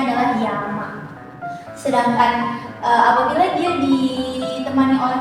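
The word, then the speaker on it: 山: Nah, kayak gini, apabila kanjinya berdiri sendiri maka dia dibacanya adalah yama.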